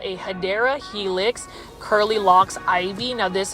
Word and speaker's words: Hedera Helix: the longest time, yes, I was mispronouncing Hedera Helix as Hydra Helix, but my viewers and